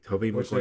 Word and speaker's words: Tobey Maguire: Okay, Tobey Maguire. Which is the correct way to say it.